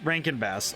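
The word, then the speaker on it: Rankin/Bass: a lot of movies Rank and bass I I think I pronounced it wrong but it's a r-a-n-k-i-n and then bass like b-a-s-s like like actual like like the fish oh that's a nice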